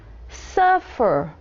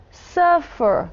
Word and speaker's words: suffer: Suffer, que é o verbo sofrer. Suffered. Não dobramos aqui a última letra, porque não falamos suffer, falamos suffer. Então, a sílaba acentuada não é a última, é a primeira.